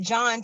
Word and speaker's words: John: Like, I mean, I know the H is silent, but what is the obligatory H in your name, sir?